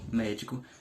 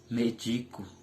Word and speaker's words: médico: é uma palavra proparoxítona e observe também que na palavra médico é que eu não coloco a primeira a antepenúltima sílaba como a mais forte Ela não fica sendo médico ela fica sendo medico que é diferente do médico entendeu as palavras proparoxítonas